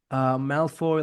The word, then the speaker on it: Malfoy: Malfoy, like Maleficence. Am I saying it right?